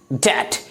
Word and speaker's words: debt: आए तो B silent होती है, यानी इसे प्रोनाउंस नहीं किया था। इसे क्या पढ़ेंगे हम लोग? चाउट। अगला एग्जाम्पल DEBT डैट।